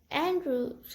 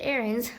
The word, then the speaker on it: Aarons: wondering well the main characters are just uh andrews or is it aaron's let me check for a second please okay